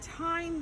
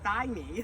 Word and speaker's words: thyme: We had thyme, the herb, it sounds the same, but the spelling is so completely different. So for those of you who look at the word T-H-Y-M-E, you'd want to say thymine, like it should be